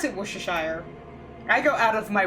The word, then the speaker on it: Worcestershire: Mr Ashdown wait who's Mr Ashdown Worcestershire is pronounced wash to sure I pronounce it Worcestershire I go out of my way to pronounce